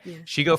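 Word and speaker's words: Shego: Shigo, like Shigo. ego, but she's a she, Shigo. so okay. Shigo. Makes more sense. Okay, Shigo from Kim Possible.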